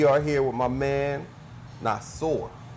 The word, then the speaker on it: Nasir: here with my man not sore right yeah it's pronounced nasa call me nas we call them knives